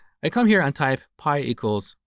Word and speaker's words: pi: to teach the concept of constants but I pronounced this word as P instead of Pi and um believe it or not to this